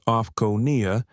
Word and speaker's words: OFCAO: She was flying for oversight as a senior investigator for the Office of Federal Civil Aviation Oversight, OFCAO, pronounced like offcoia, was halfway through a 3-month sweep of major US airlines, quietly auditing realtime passenger experiences.